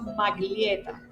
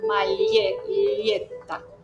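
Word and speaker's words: maglietta: Recuerda que la g y la l no las no no pronuncio maglieta, pronuncio magta.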